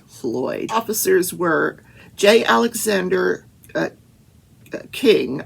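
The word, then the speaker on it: Kueng: officers were jay alexander king i think it's pronounced king it's spelled k-u-e-n-g thomas lane and tutao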